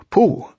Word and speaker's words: Pooh: to in various ways poo by the way is pronounced sort of like poo but without so much ooh like the sound you make when blowing a bug off your arm on a hot summer day before we bring our